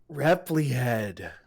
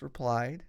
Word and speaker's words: replied: I said Repli-Head, and one of the kids laughed at me. I remember that, and I was like, "What's funny?" And the teacher was like, "It's replied," and I was like, "Oh, Oh no.